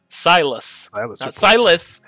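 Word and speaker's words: Sylus: Silas. Okay, I was like, what? Spell that.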